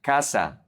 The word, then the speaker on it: casa: There is the K sound, like Ka, Ko, and Ku. CA, CO, and CU is Ka, Ko, Ku. Like casa, casa, house or home.